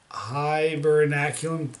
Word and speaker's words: Hibernaculum: war this went to come warm up with hibernaculum that is the pronunciation hibernaculum is for facebook hibernaculum here it is for